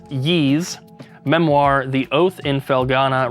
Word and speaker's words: Ys: and then lastly I've learned that this is pronounced ye Memoir the oath in felana refined Edition so